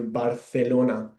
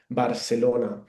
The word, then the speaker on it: Barcelona: I pronounce it uh it sounds a bit like the th in English like thunder. Um that's how that's why we pronounce here barelona.